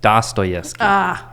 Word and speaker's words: Dostoevsky: Dostoevsky? Did I get it right? You say it. I don't, Dostoevsky.